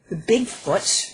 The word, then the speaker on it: Bigfoots: It's like it's like a log banging against a tree, and it's thought that the Bigfoots, and that's how you pronounce the plural, that's just one of